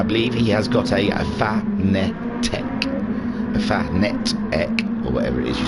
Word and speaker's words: Fanatec: he has got a Fanatec, or whatever it is you say it. I always said Fanatec, but I think it's pronounced Fanatec.